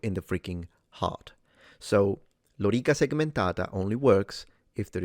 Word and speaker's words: lorica: Lorica, so both O and E are long according to phonemic vowel length, so he did it very well.